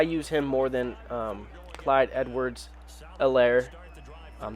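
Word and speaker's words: Clyde Edwards-Helaire: him more than um clyde edwards elaire um the h is silent i use him more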